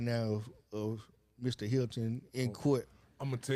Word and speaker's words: Hilton: the dad of Ryan Hinton, Rod Hinton, decided. Well, I told you the name wrong. It's Hilton. Hilton. Yeah. I thought it was Hinton. My bad. Hilton. It's Hilton. Okay.